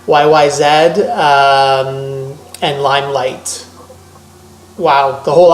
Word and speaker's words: YYZ: Tom Sawyer, Red Barchetta, YYZ, not Z in Canada, it's pronounced Z. YYZ, and Limelight.